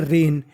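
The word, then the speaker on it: reign: पर ड्यूरिंग के दौरान द आर ई आई जी एन इसे हम लोग पढ़ते हैं रेन क्या पढ़ते हैं रेन यहां पर जी हमारा साइलेंट है रेन रेन का मतलब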